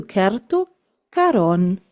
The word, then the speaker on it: Kerttu Karon: So I try to pronounce her name correctly and I say hello to Keru Karon.